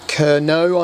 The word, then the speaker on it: Kernow: I think I paid about £57 for it new, from Kernow, I believe is the correct way of pronouncing it, Model Centre.